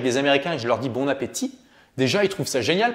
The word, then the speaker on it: bon appétit: ça génial parce que eux lisbona pettitte tu vas y prononce le thé parce qu'on en anglais la plupart des lettres à la fin se prononce et donc là toi